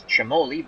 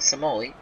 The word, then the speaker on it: Cimoli: Stewart rocky Nelson batting fifth in left-field gino cimoli that's the way it's pronounced I actually say it's Chamoli but in Baseball Reference they're saying Somali again the CI and Italian is sound anyway